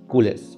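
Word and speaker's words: culés: इसी तरह Barcelona fans are called कूलस। द आर is silent. कूलस।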